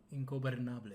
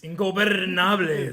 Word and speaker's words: Ingobernables: Stretch the R out when you do it, though. Ingobernables. Ingobernables. There you go. That's how you say it.